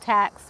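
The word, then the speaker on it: Taux: Okay, this area right here, I think the Taxu, or they're called tax, we say tax, but it's spelled T-A-U-X.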